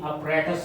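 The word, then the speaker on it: apparatus: ये हमारे पास क्या है, गोल्जी अपरेटस। ये अपरेटस नहीं है, इसकी प्रोनाउंसिएशन है अपरेटस, अपरेटस।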